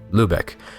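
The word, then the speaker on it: Lybæk: and traveled to Lubec, now called Lubec. The spelling is different, but the Danish pronunciation is actually a nearly perfect transliteration of the German pronunciation.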